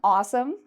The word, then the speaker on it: awesome: So when you're saying awesome, be careful. Make sure you're saying it correctly because otherwise you might sound like you're saying asshole.